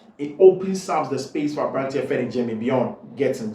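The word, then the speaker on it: Jamie Bynoe-Gittens: Jamie by no Gettins. I've been pronouncing the name wrongly for a long time, and now somebody pointed me to it, and thank you very much, Jimmy by no Gettins.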